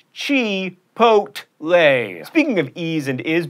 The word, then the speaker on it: chipotle: get guacamole or guacamole at chipotle that's right chi pot lay speaking of ease and